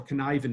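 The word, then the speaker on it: Cynefin: basically rely on the model that's called a connivin model now two things about the connivin model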